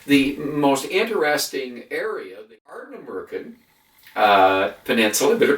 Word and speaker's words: Ardnamurchan: Plus, the most interesting area, the Ardnamurchan Peninsula, I better pronounce it right, the Ardnamurchan, which is the most westerly part of the UK mainland.